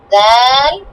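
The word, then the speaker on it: ذال: জিহ্বার আগায় দাঁতটা, হ্যাঁ দাঁতে, দাঁতে উপরে মাড়ি দাঁতে জিহ্বার আগাটা লাগিয়ে বলো। জাল জাল জাল।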